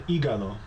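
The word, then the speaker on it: hígado: El IG liver El igalo keeping in mind that the H for this word is pronounced silent stool exr stool excremento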